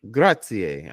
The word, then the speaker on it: grazie: So so like if I'm gonna spell something for you and I want you to pronounce it. Okay, you ready? Okay. Grazie.